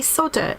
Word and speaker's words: solder: Because there's an L in the word. It's just a word. Solder. It's like soldier.